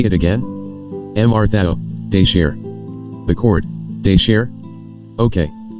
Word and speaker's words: tabchaws: TABCHAWS, how is that pronounced again? Mr. Thao, de share. The court, okay. Say it again. Mr. Thao, de share.